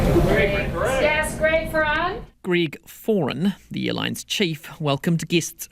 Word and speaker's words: Foran: Let me pronounce it correctly. Greg. Yes, Greg Ferns. Greg Foran, the airline's chief, welcomed guests to the party, some 3 years after the lengthy route was first announced.